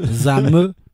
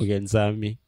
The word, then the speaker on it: Nzambé: Zame Nzambé c'est pas la même chose. Nzambé Nzambé.